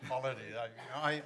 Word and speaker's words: Khalidi: Khalidi. I've mispronounced my own name. So please. How do you pronounce it? It's actually Khalidi, but nobody can pronounce it.